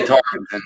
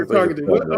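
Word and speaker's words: Tarkenton: That's how you pronounce it. Yeah, Tarkington. Yeah. Yeah, Tarkington.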